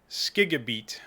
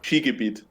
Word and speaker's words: Shigabit: It's Skigabit. Oh, not bad, not bad. Wait, that's actually Skigabit? No. Oh. Shigabit.